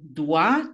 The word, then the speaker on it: dois: je dois, tu dois, לא מבטאים את ה-S.